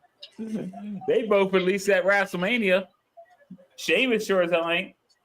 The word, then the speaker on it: Sheamus: Sheamus. Sheamus. I think they added a H to his name so America say Americans can say it right. Cuz Sheamus in in like Ireland ain't spelled like that.